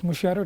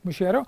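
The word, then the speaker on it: mutirão: Okay, it is Mushiro. It is pronounced as Mushiro.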